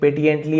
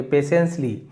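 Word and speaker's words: patiently: T silent है। यहां पर भी है ना पेशेंटली। यहां पर भी टी को हम पेट पेटिएंटली ऐसे नहीं पढ़ेंगे। पेशेंसली जिसका मतलब होता है धैर्य से शांति से।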